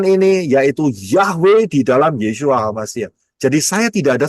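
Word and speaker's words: ישוע: Yotsin wau ayin bacanya Yesua.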